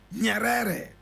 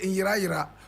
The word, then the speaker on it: Nyerere: And Nyerere is spelled N-Y-E-R-E-R-E. Nyerere. Some people say in Ira. Correct pronunciation is Nyerere.